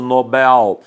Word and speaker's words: Nobel: se não houver assento é oxítona por isso nobel evidentemente há dúvida ocorre